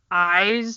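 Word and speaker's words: IZ: They're called Eyes, but it's spelled I-Z, all caps.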